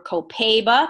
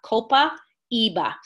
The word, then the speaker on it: copaiba: i have to say you may hear it called copaiba or co pebe but it is copaiba Copa Eva that's actually the Spanish or the the Brazilian spelling the priscilly n' present